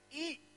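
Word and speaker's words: 义: kebenaran righteousness ya itu katanya I katanya y i Tapi bacanya I itu righteousness kebenaran itu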